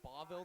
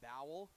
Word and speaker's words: Boville: It's Boville, not Bowell. Yeah, it's Boville. Or Bowell, but Boville. It's Boville, yeah.